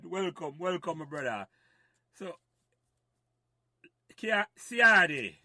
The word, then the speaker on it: Ciardi: So, Ciardi, that's how we pronounce it right. I want to get it right, you know. Yeah, man, you're on point. You're on point. Ciardi, not Ciardi.